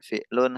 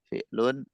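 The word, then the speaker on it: فعل: Ismun, fi'lun, harfun. Ismun, fi'lun, harfun. Itu pengucapannya dalam bahasa Arab. Ismun, fi'lun, harfun.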